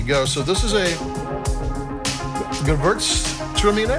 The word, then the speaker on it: Gewürztraminer: I mean, a lot of people just call it Gewürz, which is like the hardest part to pronounce. The Traminer part's pretty easy, but sometimes you just hear it said as Gewürz.